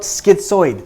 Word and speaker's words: schizoid: We then think about schizoid. So like I said, schizoid is another personality disorder. Now, how are we going to remember this one? Schizoid, the last 4 letters of schizoid rhymes with avoid.